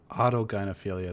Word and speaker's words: autogynephilia: No, autogynephilia, that's how it's pronounced.